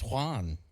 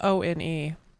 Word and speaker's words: Juan: It's Juan. Right, but it's spelled O-N-E.